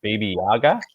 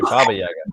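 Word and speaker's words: Баба-яга: I think it's called Baby Yaga. Have you heard of Baby Yaga? not a baby Yaga. Dr. Baba Eric. Yaga. Sorry, Baba Yaga.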